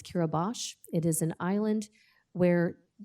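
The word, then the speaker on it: Kiribati: Pacific Islands called kiribash if you look at it as it's spelled it looks like curabody but it's kirabash it is an island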